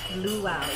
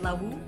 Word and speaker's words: luau: Luau, yeah. Nick was like, how do you say it? Lawu? It's like luau. Yeah, it was fun.